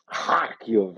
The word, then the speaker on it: Kharkiv: Like he just goes Kharkiv every time he says Kharkiv. It's like a super hard throaty.